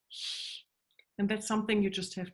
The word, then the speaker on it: Hand: We pronounce the A differently, and the and consonant, which is a D, written as a D, in German we pronounce pretty hard as a T, like a hand, like, Entschuldigung, sorry, like Hand.